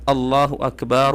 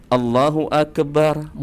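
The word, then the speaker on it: الله أكبر: yaitu pada ya bacaan Allahu Akbar Allahu Akbar. Ada dua kesalahannya di sini teman-teman. Yang pertama huruf kafnya ini seakan-akan dibaca dengan qalqalah, Teman-teman.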